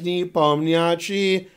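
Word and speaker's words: Nepomniachtchi: me my name is knee bum the achi although they don't really say new pony see but you guys don't know that you don't pronounce the end of it but I gotta pronounce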